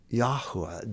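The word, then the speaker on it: Yahweh: name is not Lord his name is Yahwa that tetrogrammaton and the cor correct pronunciation of it.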